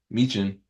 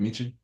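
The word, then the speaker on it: Michin: On the other side, you have Piper Niven, Meechin is how you say it, Meechin, Yeah, and me too.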